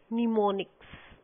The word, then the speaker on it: mnemonics: The code was not only in the form of zeros and ones, but mnemonics. Actually, it starts from M, where M is silent.